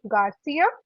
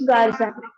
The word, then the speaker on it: Garza: Sorry, what's your last name again? Garcia? Actually, it's Garza.